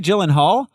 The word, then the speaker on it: Gyllenhaal: Maggie Maggie Gillen Gyllenhaal gyllenhal soft G Maggie Gyllenhaal um taking over for